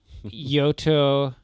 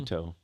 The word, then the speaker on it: Yuto: Yoto. I think Yuto. You always say saying that name wrong. Yuto.